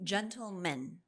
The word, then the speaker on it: gentlemen: So, the difference between gentleman, gentleman, and gentlemen. Yeah. Short A, short E.